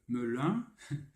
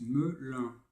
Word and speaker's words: Melun: Que Melun se prononce Melun.